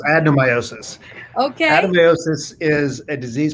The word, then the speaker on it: adenomyosis: What is, I think it's adenomyosis? Close. It's Right? adenomyosis. It's close. It's adenomyosis. Okay. Adenomyosis is a disease process that overlaps, the symptoms that it causes overlaps with the symptoms caused by fibroids. Adenomyosis is a subset of endometriosis.